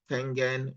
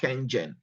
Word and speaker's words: Kangen: Then we have our Kangen water. It's Kangen, not Kengen. It's Kangen water. That's how it's pronounced in Japan.